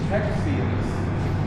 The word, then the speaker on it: Texians: lost the texians lost now did I mispronounce the word Tex I said texians that's what they called us in those days they did not call us Texans until we got annexed into the United States but that was not